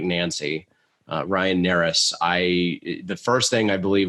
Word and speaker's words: Narus: It's spelled Narus. That's N like Nancy. Ryan Narus.